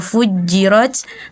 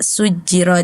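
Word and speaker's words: فُجِّرَتْ: alinfitar di ayat ketig yang seharusnya bunyinya waal biharu fujjir tadi dibacanya fujjirnya itu malah dibaca sujjir seperti itu ya tapi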